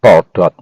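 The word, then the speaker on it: תולדות: Di sini kata silsilah juga dikatakan toldot. Hurufnya adalah tau, waw, lamet, dalet, dan tau lagi. Toldot bacanya.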